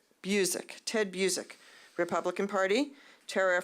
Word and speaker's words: Busiek: Also, if I mispronounce the name, please correct me. It's Busiek.